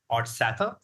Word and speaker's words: Odsather: And his name is Odsather. Did I pronounce it right? Yeah. Perfect.